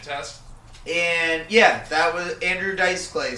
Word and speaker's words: Andrew Dice Clay: Andrew Dice Clay. Andrew Dice Clay. Emphasis on the dice.